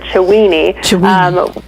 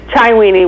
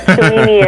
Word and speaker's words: Chiweenie: So you were saying it's actually, I pronounce it Chiweenie, which is Chiweenie works too, but Chiweenie is a Chihuahua Dachshund cross, and he's short hair.